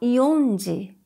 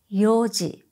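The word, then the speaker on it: 四時: When you combine these numbers with ji, 4 o'clock is not yonji, but yoji.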